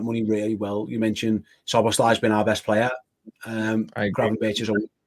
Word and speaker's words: Szoboszlai: How do you pronounce his name? How do you Scousers say it? Szoboszlai.